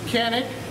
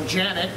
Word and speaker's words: Canik: This in my hand is the Canik, or Janik, depending on how you pronounce it, if you're from Turkey or not, TP9SF.